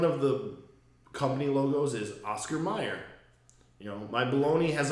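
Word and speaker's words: Mayer: problem with this is how do you spell John Mayor like last name yeah I know it's not Meer it doesn't work m a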